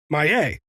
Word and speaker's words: Maillet: So then I looked up the NLL pronunciation guide, and it says Maillet.